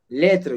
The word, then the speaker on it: lettre: Lettre, you see, S is here is silent.